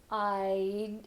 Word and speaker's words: I'd: would, we're going to use the contracted form, I'd, and you can just do this I'd, and then hold that D, I'd. Another way to say this would be to reduce the vowel even more, and you can just say id like, okay?